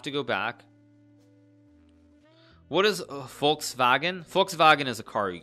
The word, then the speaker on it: Volkswagen: Okay, in German, your pronunciation is terrible. I know Volkswagen is right.